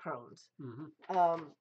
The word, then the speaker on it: crosnes: It's CROSNES. And it's pronounced Crohn's.